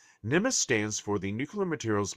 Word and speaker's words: NMMSS: This program is identified using the acronym NMSS pronounced NEUS. NEMIS stands for the Nuclear Materials Management and Safeguard System.